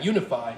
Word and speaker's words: UniFi: Yeah, Unify, and I'll spell that for you. It's UNIFI by Ubiquiti.